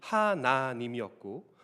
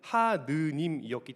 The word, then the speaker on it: 하나님: 이름의 하느님 또는 하나님이 평양 이북에서는 이 아래 아자의 발음이 하나님이었고 서울과 이남 지역에서는 하느님이었기 때문에 처음에는 둘을 섞어서 쓰다가 어느 순간부턴가 더 많은 사람들이 사용하는 발음인 아래 아자를 아로 읽는 하나님을 사용하게 되었습니다.